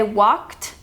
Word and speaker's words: walked: are very important because you do not pronounce the e d you don't say walked or talked or danced you say walked talked danced we reviewed that way